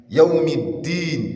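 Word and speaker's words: يوم الدين: Then, Yawm id-Din. Yawm id-Din. There is shaddah on that dal.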